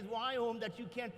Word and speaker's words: Viome: So you start the name of the company that says Viome that you can't pronounce. But in case you're wondering, it's V as in Victor, I-O-M-E.